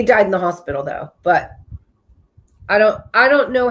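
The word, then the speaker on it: Butte: And this is in but Montana. Everybody's heard of but it's spelled like buty. But bouty.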